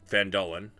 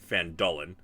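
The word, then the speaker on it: Phandalin: and nearby human town this one obviously um van Dolan apparently I've been pronouncing it wrong for the last several months uh it's fandolin uh prospered as well but then disaster struck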